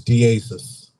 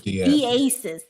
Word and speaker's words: Diasiss: How do you pronounce it? Yeah. So, it's Dasis. Dasis instead of Disasis.